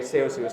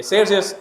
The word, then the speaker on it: Celsius: by under Celsius okay in European pronunciation okay Celsius but in English Okay Celsius are is the system